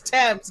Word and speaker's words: Thames: i said it right it's not dames it's temps get it right so